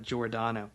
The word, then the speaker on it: Giordano: It's pronounced, I've got it spelled phonetically as Giordano.